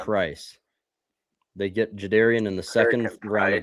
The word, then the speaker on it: Jadarian: Kurt Cousins and Jadarian Price. They get Jadarian in the second round of the draft. Or I guess I just saw on the combine he pronounces his name Jadarian, not Jadarian.